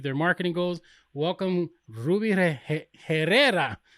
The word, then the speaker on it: Herrera: Am I saying it right? Or should I be rolling my R's there? Yeah, but there's no H. There's Herrera. Herrera. There you go. I said it in the Spanglish English way.